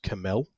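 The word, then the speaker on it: C'Mell: Um, and then there's a story called The Ballad of Lost Camel, which is spelled C''Mel.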